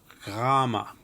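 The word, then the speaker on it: γάμμα: Gamma. Gamma. The gamma is a GH kind of sound, although before certain vowels it may have more of a softer sound, as in yet.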